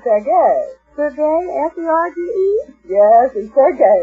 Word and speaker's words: Sergei: Serge Rachmaninoff, huh? Well, that's what it says here. Oh, it's pronounced Sergei.